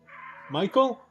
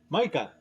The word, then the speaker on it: Micah: The Micah. Micah. Ah, how do you spell it? M? ICGA. Wow. That's an interesting name. What does it mean? It sounds like Michael, right? Yeah, but it's Micah, Micah. yeah.